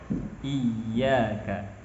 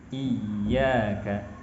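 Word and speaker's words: إياك: Ya ketika bertasdid, baik ketika di tengah ataupun di akhir, ketika washoh ataupun waqaf, diharuskan untuk membacanya nabroh atau meninggikan suara dibanding huruf yang lainnya. Al-hayy, iyyaka, huyyitum. Tidak dibaca iyyaka. Kalau iyyaka seakan-akan kita baca i dan yaka.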